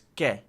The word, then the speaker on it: que: So, all right, so it's ke, not ki. It's not ki. Ke.